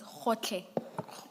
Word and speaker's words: Gotlhe: It's Khotle. Khotle. Thank you. And maybe, Ms. Hassim, it may have to be spelled for the transcript. Thank you. And that's spelled Gotlhe.